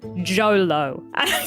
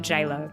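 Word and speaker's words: Jho Low: and this name is Jolo reading it and going that's just JLo with a typ yeah yeah it's spelled j h o l w I need you to know that Jolo is not JLo but a Malaysian financier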